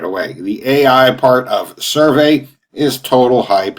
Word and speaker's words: SurvAI: today i'm looking at a new software called survey now it's spelled serve s-u-r-v-a-i and the ai of course